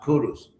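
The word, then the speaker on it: Kuruš: person Empire ironically because his name in his own language was actually pronounced Kurus and kuru of course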